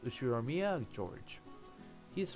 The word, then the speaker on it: Ushiromiya: The first part of my family name, Ushiromiya. That's a fairly plausible Japanese pronunciation so far.